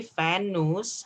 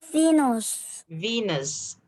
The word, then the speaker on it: Venus: fennels and dangerous dangerous but you don't say fan news how do you say it venus venus okay thank you they've